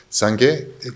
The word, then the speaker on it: Sangye: Sangye is comprised of two syllables, Sang and Ge.